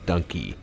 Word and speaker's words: Dunkey: you was video game Dunkey it's like donkey but spelled with a u instead of an O So before we do